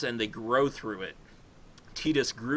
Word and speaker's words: Tidus: And then Tidus and Yuna, like, oh, I decided to pick Riku instead. What? Like that's not. It's Tidus and Yuna. Like that's it. And some people pronounce it Titus, but if you actually play